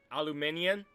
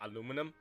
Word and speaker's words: aluminium: Aluminium, they call it aluminum.